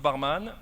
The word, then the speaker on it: Barman: Et nous avons Barman, le cofondateur de Loico. On dit barman, mais ça s'écrit barman, hein, j'avoue.